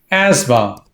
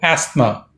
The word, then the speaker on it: asthma: asthma oh asthma as stressed as the second syllable asthma or asthma not asthma we'll continue with this over the